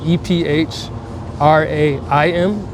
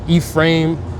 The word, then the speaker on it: Ephraim: Okay, so my given name is actually E P H R A I M and it's like E frame uh Ephraim.